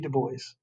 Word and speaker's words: Du Bois: Is it Du Bois or is it Du Bois? It's Du Bois. It's W.B. Du Bois. Du Bois. You can actually go in on the Google and actually hear him pronounce his name.